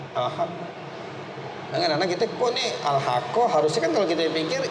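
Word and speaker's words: الحقَّ: Itu al haqqo bacanya.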